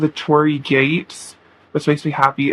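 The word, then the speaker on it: torii: It's called the Tori gate, which makes me happy. It's not spelled like my name. It's spelled T O R I I, but it's um it's a Japanese um gate.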